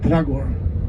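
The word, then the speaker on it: Dragør: many throat sounds plus they don't pronounce every letter when they say the word so their pronunciation for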